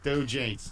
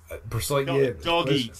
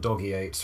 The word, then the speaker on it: dog eats: Dog eats. Spelt dog eats. No, it's not doggy eights or anything like that, no.